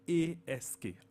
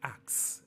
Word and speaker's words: ask: And another one on the same line, A-S-K. Ask. Ask. A lot of people say axe, and it gets you confused.